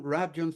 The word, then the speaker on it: Rabjohns: before I couldn't okay is rjon the right way to say your name absolutely and the name of